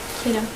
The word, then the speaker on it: Kittim: How do we pronounce that? Kittim.